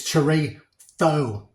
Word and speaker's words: chorizo: Some people call it chorizo. A really good Spanish friend of mine says it's chorizo. So that's how I pronounce it, because I figured